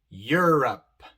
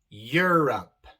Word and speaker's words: Europe: palabras como neuron neuron europe europe e e vemos que aquí la e se pronuncia de forma larga i pero la u también se pronuncia neuron europe eulogy el siguiente sonido